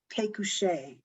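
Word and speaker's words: Pécuchet: was published posthumously it is called bouvar and pekushay and it's about two i can spell that b-o-u-v-a-r-d and p-e-c-u-c-h-e-t these are two clerks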